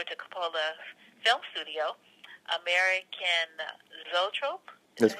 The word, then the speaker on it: Zoetrope: Um, you worked on several wine and food ventures, and then transitioned over to Coppola's film studio, American Zoetrope. Is That's that how you correct.